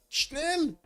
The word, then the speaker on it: schnell: Melstrom, move it, Schnell. No, that's how you say it. No, in German. Schnel.